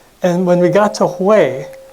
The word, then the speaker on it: Hue: And when we got to Hue, it's spelled H-U-E, I think I'm pronouncing it correctly, the magic happened.